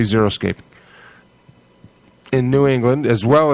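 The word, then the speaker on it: xeriscaping: We'll be discussing uh okay it's spelled X E R I S C zeroscaping. I'm going to say zeroscaping in New England as well as other gardening topics.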